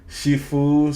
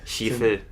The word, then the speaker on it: Sifu: Cult of the Lamb, Neo White, Shifu, Stray. No, it's pronounced Shifu.